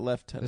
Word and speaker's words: lieutenant: What about left tenant? That's just how the British say lieutenant. Well, that's it. I say it the British way.